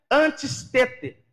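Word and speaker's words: ἀντίστητε: Este termo, resistir, no grego se pronuncia antistete, que significa permanecer com força.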